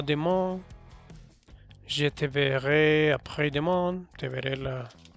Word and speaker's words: je: Te recuerdo que en primera persona es un je, no es abierta la E, no se dice je, se dice je.